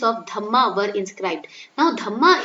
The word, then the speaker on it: Dhamma: Now Dhamma is the pronunciation of dharma in Pali language.